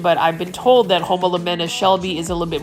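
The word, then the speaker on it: Homalomena: And over here, we've got a Homolamena Shelby, and I said it right, Homolamena.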